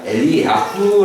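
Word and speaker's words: 엘리야후: 시에 히브리어로 이거 써야되는데 엘리야의 이름을 원래대로 발음하면 엘리아 후 라는 발음이 거의 말도 뭐냐면 나의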